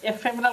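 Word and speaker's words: ephemeral: সেটা হচ্ছে আমরা এই সেন্টেন্সে ব্যবহার করি অ্যানিগম্যাটিক এফেমেরাল এফেমেরাল এফেমেরাল এটা উচ্চারণ এফেমেরাল কথা মানে হচ্ছে lasting for very short time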